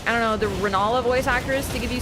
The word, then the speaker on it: Renala: I, normally, every single time I say Renala, I have to, like, do a second. I'm like, yeah, I said it right. But when I'm like, Relana, no, Renala, like, I have to, like, do a double take every single time.